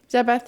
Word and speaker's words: Zabeth: Zabeth sounds like Beth, you know? Like Elizabeth. It's like Elizabeth. Like you just get rid of the Liz part. Yeah. The Li part.